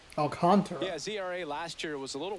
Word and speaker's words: Alcantara: Sandy Alcantara Alcantara. Alcantara last year was a little That's me. That's English Sean. That's American Shawn just going Alcantara. It's like well, you know, a smoother way to pronounce it able to repeat that